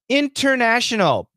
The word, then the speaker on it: international: i you and i international beautiful perfect pronunciation right international that's absolutely correct but not always but almost always we cancel this t international international international international